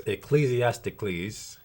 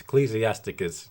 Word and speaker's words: Ecclesiasticus: All right, this is Ecclesiasticles. Did I say that correctly? It's Ecclesiasticus.